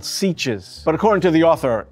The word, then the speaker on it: sietch: So in the film, the name for these Fremen villagers are called Sietches. But according to the author, it's pronounced Sietch.